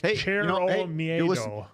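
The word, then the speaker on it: Cero: Sero. It's pronounced kind of like cherro.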